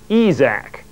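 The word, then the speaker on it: esac: shell decided to use the word case spelled backwards to note the end of a case statement that's the purpose of the word that is sometimes pronounced EES AK at the bottom of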